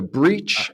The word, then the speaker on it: breach: are different and so this one is pronounced more like an e breach and we've we've